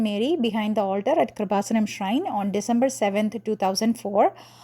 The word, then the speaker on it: Kreupasanam: that is so um if you read it in North American pronunciation it would be k-r-i-p-a kripa Sanam that is how it is pronounced kripa Sanam okay now where this